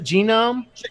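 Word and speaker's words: GNOME: gene oh no it's there are two pronunciations that are officially recognized by the known project because they say it themselves no men genome let's say either one okay they do expect they accept both for sure they have I ever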